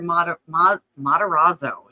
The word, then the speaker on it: Matarazzo: The Blue Bodie, and Heather Matarazzo.